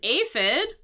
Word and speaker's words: aphid: This is an aphid. Um, and I know it has an f sound here, but it's actually spelled with a ph.